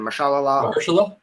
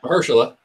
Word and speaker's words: Mahershala: I can't pronounce his name. Mahershala. Yeah. Mahershala.